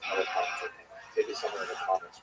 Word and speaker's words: Elephantine: You see the town Elephantine. Now, I always pronounce that, by the way, Elephantine. So I look a little more carefully. I think it's supposed to be pronounced Elephantine.